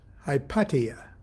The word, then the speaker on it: Hypatia: Now, I have heard it pronounced by knowledgeable people that it's pronounced Hypatia, which is kind of pretty too. But for years I've said Hypatia, and I'm going to continue doing that.